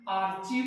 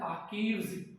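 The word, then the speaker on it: archives: पहले तो इसका प्रोनाउंसिएशन आर्चीव नहीं है, इसका प्रोनाउंसिएशन है आर्कीव्स।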